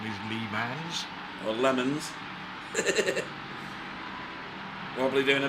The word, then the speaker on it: Le Mans: Obviously the real pronunciation is Le Mans.